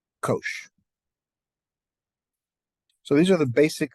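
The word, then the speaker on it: cosh: oh I'm I'm sorry and this is repr pronounced Kosh so these are the basic of the hyperbolic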